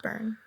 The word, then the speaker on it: Byrne: that David Byrne and David Byrne is pronounced burn because it's like English or whatever well I'll just say